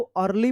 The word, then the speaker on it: early: रहता है तो इस ई ए का अ उच्चारण, तो क्या पढ़ेंगे इसको, अर्ली पढ़ेंगे, अर्ली।